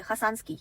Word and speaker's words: 하산: 러시아로 이제 하산스키 라이온 이런 식으로 이제 얘기를 하는데 아무튼 한국어로는 보통 그냥 하산 지역 이런 식으로 이제 얘기를 해요. 핫산 약간 발음이 또 핫산 느낌이에요. 근데 이제 쓸 때는 하산이라고 쓰고 근데 또 그